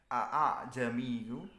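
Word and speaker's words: أأعجمي: Jadi tulisannya a'jamiyu tapi bacanya kayak agak malas gitu, a'jami, seperti itu.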